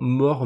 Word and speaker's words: MOAR: fais un zoom sur More Market ou MOAR. À mon avis, il faut le prononcer Mor Market, c'est un jeu de mot, je pense.